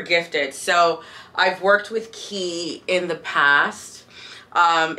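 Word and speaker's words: Quay: so I've worked with key in the past um it's spelled Quake it's spelled q-u-a-y but after working with the brand it's like it's pronounced key and um I worked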